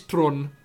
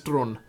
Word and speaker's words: Theron: You know, she calls herself Charlize Theron, because that's how you say it here, Theron. So it sounds weird, I know, but that's actually how you pronounce her name.